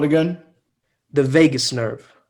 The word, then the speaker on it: vagus: digest so what's the nerve called again the vagus nerve vegas vegas uh it's kind of yeah it's it's pronounced like that spelt v-a-g-u-s instead of v-a-g-a-s